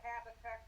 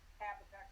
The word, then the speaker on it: Habakkuk: Oh, Greg, I was going to tell you, I thought about it, and the book of Habakkuk, or however you pronounce it, was the only one that was super depressing.